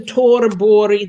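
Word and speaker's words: Thorborg: Wagnerian mezzo, Kirsten Torborg, that Americans spell that Thorberg, but that's not how the Swedes pronounce it.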